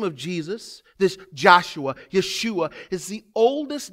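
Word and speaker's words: ישוע: Hebrew name in Hebrew we would actually say Yeshua is how we would pronounce that name or Joshua and what does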